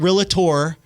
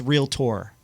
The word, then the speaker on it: Realtor: online there was a realtor who good job by the way thank you not it's not realator or real T it's real tor right real tour Round of Applause there